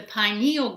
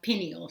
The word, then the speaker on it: pineal: The pineal gland, or some people in your book seems to like pineal, so you hear it pronounced both ways, is a tiny little gland that makes melatonin.